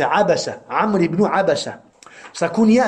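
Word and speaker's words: عبسة: Amr ibn Abasa, c'est avec Abasa, c'est avec 3 fatha. Abasa. Abasa. Des savants ont dit, certains ont prononcé Anbasa, et ils ont dit ça c'est khata'un fahish, abadan. C'est pas Anbasa, c'est Abasa.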